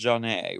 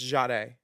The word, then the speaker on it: Zhane: Her name's pronounced Janae, right? No, it's Jade. Jade Dawlings. I know her from Axis in Ohio, which is another thing we all need to talk about. Well, girl, when they announced her as the winner, they called her Zane. Because it's spelled No. Zhane with an accent on the E. Well, it's pronounced Jade.